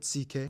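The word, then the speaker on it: Székely: all went down then we get to the ck people the second most populous minority yes that's how you pronounce it ck basically cousins of the hungarians these people are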